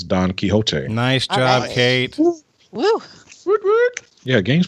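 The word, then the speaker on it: Don Quixote: uh we went donot Don kot or Don quicko if you want to pronounce it incorrectly uh this is considered to be the first modern novel it is Don kote nice job Kate yeah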